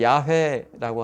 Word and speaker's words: 야훼: 가장 가까운 발음은 야훼라고 하죠. 야훼. 우리는 여호와 초기 번역본의 한국 성경은 여호와라고 번역했기 때문에 그냥 그대로 가는 거예요. 야훼가 더 정확한 발음이죠.